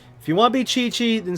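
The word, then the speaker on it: Qiqi: booboo pharmacy i am chi-chi oh chi-chi really that's how you say it well then want you to spell it like chichi like from dragon ball z there's a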